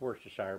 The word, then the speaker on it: Worcestershire: little bit of probably about a teaspoon of water shire sauce i know it's worcestershire but well however you pronounce it i always say worcestershire and about